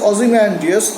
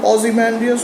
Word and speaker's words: Ozymandias: painter syllabic war today Shelley however pronounced obviously pronounced it as a four-syllable word and that's the way in which he metrically uses it what's the meaning of the word Ozymandias why did he use